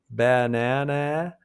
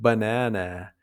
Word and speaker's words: banana: Banana isn't banana, it's banana.